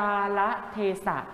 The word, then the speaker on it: กาละเทศะ: เหมือน กัน นะ ครับ คำ นี้ เป็น คำ 4 พยางค์ อ่าน ว่า กาละเทศะ หมาย ถึง เวลา และ